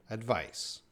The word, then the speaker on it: advice: the ipa spelling but we see a c here in the ipa that's going to make that s sound advice advice and that's